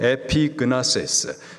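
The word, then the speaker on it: ἐπίγνωσις: 여기서 안다, 헬라식 발음으로 에피그나세스, 단순히 지식과 정보를 통하여서 아는 것, 이것을 말하는 것이 아니라 관계적인 알을 말하는 겁니다.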